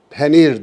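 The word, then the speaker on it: پنیر: Farsçada penir diye okunuyor. Türkçeye geçmiş. Peynir olmuş.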